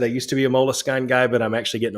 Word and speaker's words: Moleskine: like the vhs sam not moleskin no moleskine i don't know that's how i say it who knows you're